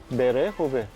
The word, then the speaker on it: Berehove: Berehove. Я думаю, що правильно берегове. Berehove. Да, берегове. Okay, that's how it's pronounced in Ukrainian.